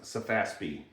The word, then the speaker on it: SEFASPE: It's pronounced Safaspi.